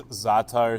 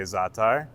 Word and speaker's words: Za'atar: If you want to pronounce it the way I pronounce it, then you can say Za'atar. You're just putting the emphasis on the front end of the word as opposed to the back end.